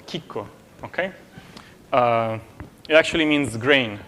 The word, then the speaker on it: Chicco: Like all kinds of, you know, when you feed them or, it's called chicco, okay?